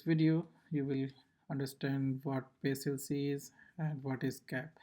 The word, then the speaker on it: PACELC: What is CAP theorem and what is PLC? Like you can pronounce it however I don't know but yeah I will pronounce it as P LC.